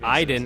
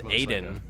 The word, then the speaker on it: Aiden: end of the game pronounces Iden as Aiden when he wasn't supposed to cuz they clearly established the name as Iden the entire game but there's a line near the end of the game where he calls him Aiden ons you should wor